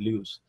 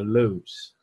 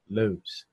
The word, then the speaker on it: Lewis: Lewis, mas se fosse uma pronúncia um pouquinho mais inglesa mesmo, seria Lewis, Lewis.